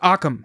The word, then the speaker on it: Occam: Occam. Occam. Okay, like Occam, like Occam's razor.